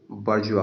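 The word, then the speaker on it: bourgeois: ठीक है दोस्तों, मिस प्रोनाउंसिएशन ना करें, बारजुआइज नहीं कहेंगे, बारजुआ कहते हैं।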